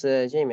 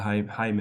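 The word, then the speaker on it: Jaime: I thought it was Jamie actually yeah but in Spanish the J is pronounced like a h like a j like H so so it's actually Hae so yeah okay yeah Hae yeah so a little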